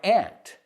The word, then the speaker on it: aunt: then we say, my aunt. My aunt loves ants. They sound exactly the same.